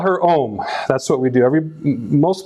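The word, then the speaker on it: Aom: her nickname is Om, A-O-M, not O-H-M, which a lot of people will write, but it's pronounced the same way.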